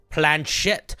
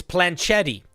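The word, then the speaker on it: planchette: accompanied by a small planet oh for folks that don't know how to pronounce this word correctly it's planchet it it's accompanied by a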